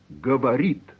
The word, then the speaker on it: говорит: But what about the te at the end of он говорит? He speaks. That te is hard. Говорит. How do we know? Well, consonants which end a word are pronounced hard.